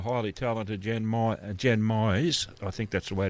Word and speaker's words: Mize: It's Myes. There you go. as in like maximize, minimize, customize is what I always tell people.